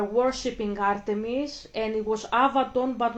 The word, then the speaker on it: Avaton: the ancient times this was Avaton that's how you say it avat It's today Avaton and it was back in the days in the ancient times.